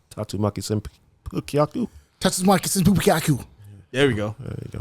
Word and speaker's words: Tatsumaki Senpukyaku: Who knows how to pronounce Tatsumaki Senpukyaku? Tatsumaki Senpukyaku.